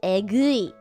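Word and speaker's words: エグい: And the way you pronounce this is egui.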